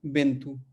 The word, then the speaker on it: Bento: लिखता हो, तो कैसे हम उसका उच्चारण करेंगे, प्रोनाउंसिएशन करेंगे? बेंतु, ठीक है।